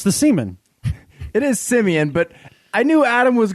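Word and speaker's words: Siemian: that you just said, because I think you mispronounced Travis Simeon's last name. I don't think so. It's the seaman. It is Simeon, but I knew Adam was going to roll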